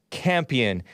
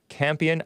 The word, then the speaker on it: Campion: This is the CNN headline, director Jane Campion, it's spelled like champion, but no H, Campion, I presume that's how you pronounce it, apologizes for thoughtless, her word, comment about Venus and Serena Williams.